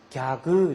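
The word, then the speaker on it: ギャグ: 개그 발음이 안 되니까 얘네들은 뭐라고 그래요? 갸그 이러죠.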